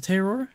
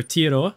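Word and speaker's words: Te Awaroa: way bottom right to Terror and then or tioa I guess if you want to say it properly and then par Fernando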